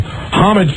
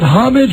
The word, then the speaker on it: homage: The H is silent, much as in my favorite restaurant, O.R.